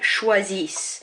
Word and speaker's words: choisissent: And then for il and elle, choisissent. I'm not pronouncing that ENT. It has to be there, but I'm not pronouncing it.